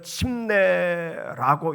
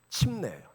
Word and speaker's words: 침례: 우리 침례교는 침내라고 읽고 침례를 주죠. 그리고 타교단은 세례 세례라고이 말씀을 읽습니다. 근데 성경 원어는 밥티조라는 헬라어인데 정확한 번역은 침내예요.